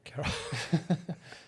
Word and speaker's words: Karol: Carol, sorry. Yeah. Carol with a K. Carol.